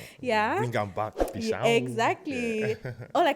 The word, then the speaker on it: Peeshaun: I like how you pronounce it, Peeshaun. Yeah. Bring them back, Peeshaun.